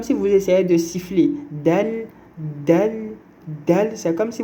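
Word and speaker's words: د: Dal, dal, là, vous collez un peu la langue à votre palais supérieur, c'est-à-dire vous collez un peu le bout de la langue à la partie supérieure de la bouche.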